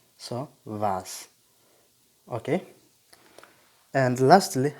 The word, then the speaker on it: was: why are you nice what for example is vas don't say was it's vas so it's like so in bracket means a close pronunciation so vas okay and lastly how